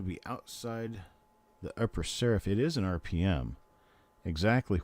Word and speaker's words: serif: It's not sheriff, it's a serif. And then unlike some other people who have broadcasted in the past would call it a serif, there is no such thing as a serif.